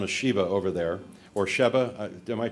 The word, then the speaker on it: Sheba: By the way, it's simply known as Sheba over there, or Sheba. Am I pronouncing it?